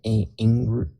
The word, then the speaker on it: inguinal: been the common locations to be found are the bladder, lower abdominal wall, and I can't pronounce this word, but it's the groin region. Inguinal.